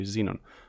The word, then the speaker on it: xenon: know how to pronounce i say shenon but i guess in america you say xenon so i fix xenon